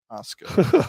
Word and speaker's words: Orozco: Thank you for the pronunciation on that. Orozco.